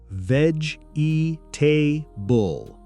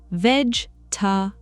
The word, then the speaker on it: vegetable: That's the pronunciation many learners use because they're reading every syllable, but native speakers usually say vegetable. Vegetable. So, we're dropping that extra sound in the middle. Exactly. Instead of four clear syllables, it becomes closer to three.